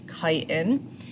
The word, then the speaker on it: chitin: that's made of chitin that's pronounced chitin with like a hard ch this is the same